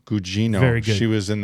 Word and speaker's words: Gugino: I never know how to say her last name, but Carla Gugino? Gugino.